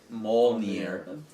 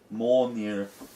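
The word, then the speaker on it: Mjölnir: It's Mjolnir. Mjolnir. They don't. They don't really pronounce the L that's in it.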